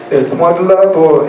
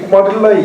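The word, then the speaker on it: Kumārila: 꾸마릴라라는 사람은 이 뭐 이제 영어식으로 이제 이 사람을 인도식으로 하지 않고 발음한 쿠마릴라라고 해요. K를. 쿠마릴라도 했는데 이 두 사람의 이론이 아주 잘했습니다. 특히 꾸마릴라의 이론이 너무 좋았기 때문에 변론하지 않으면 안 됐습니다.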